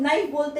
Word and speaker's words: knife: NIFE लिख देते हैं, लेकिन यहाँ पे K जो है वो साइलेंट होता है, यानी कि K हम लोग बोलते नहीं है, हम लोग नाइफ बोलते हैं, लेकिन लिखने में हम लोग K का यूज करते हैं।